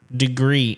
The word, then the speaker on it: Degrii: about tonight is the degree thermostat is spelled D e g r i I I right but it's degree and one of the